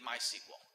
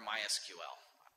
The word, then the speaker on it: MySQL: open SSH and you need MySQL or MySQL Chef doesn't really care how you pronounce it actually as long as